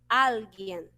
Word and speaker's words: alguien: Em espanhol, vamos falar alguien. Aí sim, a sílaba, a tonicidade vai lá para a primeira sílaba.